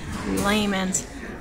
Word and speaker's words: Lehman's: I'm always pronouncing it wrong, sorry guys. Lehman's.